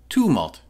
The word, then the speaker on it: Tumult: Tumult. It's a too sound, I checked.